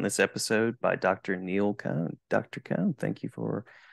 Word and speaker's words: Cohn: be joined on this episode by Dr Neil cone Dr Cohn thank you for jumping in and